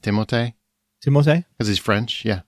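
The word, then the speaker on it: Timothée: either did you know his name is actually pronounced timote timot cuz he's French yeah French yeah but he actually doesn't mind when people call him Timothy and like and and this is probably why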